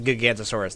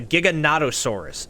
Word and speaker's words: Giganotosaurus: let's try that again I always call this the gigantosaurus that's not technically true people just call it the Giga it's the Giganotosaurus is how you say this one but regardless it is